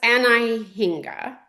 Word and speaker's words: Anhinga: So I think it's pronounced Anahinga.